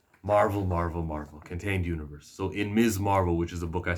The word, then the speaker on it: Ms. Marvel: And by the way, I just pronounced her name Ms. Marvel, not Miss Marvel, everybody.